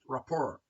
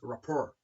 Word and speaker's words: rapport: It is pronounced rapport. Okay, it is rapport, a friendly relationship.